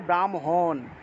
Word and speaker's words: ব্রাহ্মণ: তারপরে এইযে যুক্ত বর্ণটা আছে হ যুগ্ম ম এটা থাকলে প্রথমে ম উচ্চারণ হবে তারপরে হ উচ্চারণ হবে। তাহলে ব্রাহ্মণ থাকলে ব্রাহ্মণ ব্রহ্মা থাকলে ব্রহ্মা এভাবে উচ্চারণ হবে।